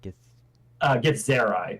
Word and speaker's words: Githzerai: And as I do so, I'm gonna just kind of the gith is wait, can you pronounce the name of the species again? Githzerai.